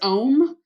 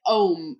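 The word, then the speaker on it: Homme: I think it's Ohm. Yeah, like Ohm, because it's like what, French or some shit.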